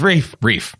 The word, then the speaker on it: Reiff: Yeah, and then he's rife with mispronunciations of his name. That's for sure. I might not even been doing it right. It's Reiff.